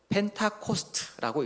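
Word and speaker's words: Pentecost: 오순절을 우리 헬라어로 읽으면 펜테코스테 이렇게 발음을 하고 영어로는 펜타코스트라고 읽습니다.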